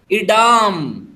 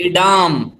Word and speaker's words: Edam: Third चीज का नाम लिखो, इडाम, EDAM, EDAM, इडाम।